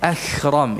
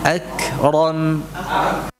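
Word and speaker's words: أكرم: Jangan langsung ke hamzahnya, udaranya, tapi apa, tahan dulu suaranya agar tidak terucap seperti kha, enggak, itu seperti kha, ya, akhram, itu tidak, ya, ya, perhatikan, ram, ya, akram, rabbukal akram, nah, wa rabbukal akram, nah, alladzi 'allama bil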